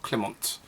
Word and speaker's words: Klimt: the works of Gustav Klimt I think that's a silent T I did check with